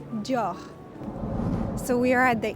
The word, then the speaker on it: Dior: So pronunciation is Dior. So there's the R at the end that might be a bit tricky. Dior.